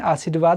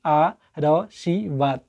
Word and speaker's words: आशीर्वाद: जैसे हम इसको कैसे उच्चारण करेंगे, आ र शी वाद, आ र शी वाद, तो ये गलत हो गया। यहाँ पर शुद्ध है। कैसे, आ शी र वा द, यानी कि र का